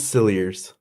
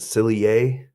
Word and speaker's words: Cilliers: police brought a meal it's silly ears well that's how the documentary pronounced it other places I saw pronounced that silly a but I'm gonna go sillier cuz okay I've been